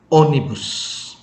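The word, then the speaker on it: ônibus: Cara baca seperti ini. Bebe. Bebe. Yang berarti bayi. Bebe. Lalu kata yang kedua, onibus.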